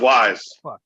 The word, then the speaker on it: Weis: their carts like that I think it's pronounced Wise Wise Wise Wise whatever